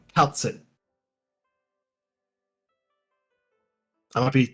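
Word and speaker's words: Kal'tsit: I think it's pronounced Kerushi. I think that's how the Japanese pronounce it.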